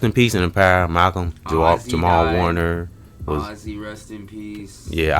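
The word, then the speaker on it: Malcolm-Jamal Warner: is rest in peace and in power to Malcolm Jamal Warner, right?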